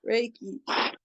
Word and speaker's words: Reiki: I did Reiki on my mum earlier, and she was like, "Oh, you're gonna rake me." I was like, Reiki.